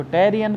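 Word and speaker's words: Tarain: To battle took places at टराइन, इसको हिंदी में तराइन बोलते हैं, इंग्लिश में कुछ लोग प्रोनाउंस इसको टेरियन करते हैं, तो जो आपको करना हो करिए। मैं तराइन करूँगा तो आप समझ जाइएगा कि हम टेरियन की बात कर रहे हैं, टेरियन।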